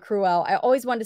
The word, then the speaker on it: Cruella: I'm sorry it's not Cruella I always wanted to say that and everybody's like no it's like cruel like you're being cruel cruel embroidered pillow see